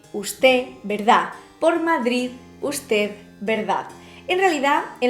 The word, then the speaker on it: Madrid: lengua española nos dice también es extremadamente débil la pronunciación de la de final de palabra que en el habla poco esmerada de algunas de las de españa que es fuerte hoy día los bajos estos complejos por favor pero no es un chiste y vos quien él habla poco esmerado de algunas zonas de españa tiende a perderse madrid usted verdad por